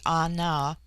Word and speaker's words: Ana: bulwar litton chapter 10 the word ana pronounced broadly anna corresponds with our plural